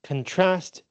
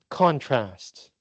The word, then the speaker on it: contrast: So, uh contrast is pronounced differently as a verb and a noun. As a verb, it is contrast. As a noun, it is contrast.